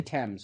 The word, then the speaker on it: Thames: This culminates in the apex of our story, the Battle of the Thames, or the Thames, depending on, I guess, your pronunciation.